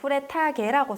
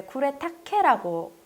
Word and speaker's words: 쿠레타케: 네, 제가 처음에 이제 강의할 때 쿠레타게라고 썼는데요. 이게 일본 발음이라서 제가 이제 헷갈렸는데 이제 쿠레타케라고 이제 검색하시면 되세요.